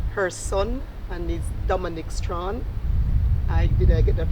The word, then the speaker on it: Strachan: I have here with me her son, and is Domonic Strachan. Did I get that pronunciation right?